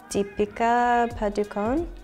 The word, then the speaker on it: Padukone: DEA padukon DEA padukon dea padukon it's really nice to hear them pronounce the surname right because I've heard a